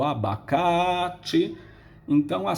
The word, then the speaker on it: abacaxi: abacaxi admitir só que na palavra abacate a sílaba tônica é o carro em abacaxi é o finn mas por quê porque quando